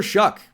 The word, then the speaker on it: Shough: And speaking of quarterbacks going way, way ahead of where I thought they could go, Tyler Shough. That's how that's pronounced. Tyler Shough out of Louisville by way of Texas Tech, by way of Oregon.